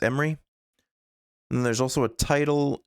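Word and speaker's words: Emre: So, you could get a voice line for Emery. Emmer, I think it's pronounced Emery. And there's also a title and a background, a banner. You like all the new heroes except for jetpack cat. Emra.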